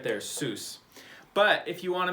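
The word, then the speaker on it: סוס: letters one two three and this word is pronounced seuss this is the word that means horse horse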